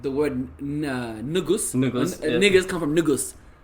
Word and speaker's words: negus: It's nugus, not nigga.